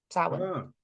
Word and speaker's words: Samhain: So it's kind of become associated with Halloween, particularly in America, but it's a pagan name, Samhain. Okay, I didn't know that, and I totally pronounced that name wrong.